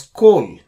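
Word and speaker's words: כל: This word is pronounced as kol because it occurs before, and the purpose of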